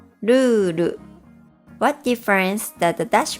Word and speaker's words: ルール: But with the dash, the word is pronounced lulu. What difference does the dash make? The first vowel sound, u, becomes twice as long.